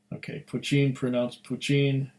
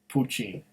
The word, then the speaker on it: Poitin: Poitin, pronounced Poitin, is Irish Gaelic for the new make whiskey spirit. Yep. I don't know, when I see POI, I think of poi, but it's Poitin.